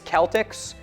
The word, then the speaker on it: Celtic: Celtic with a hard C or K is the standard.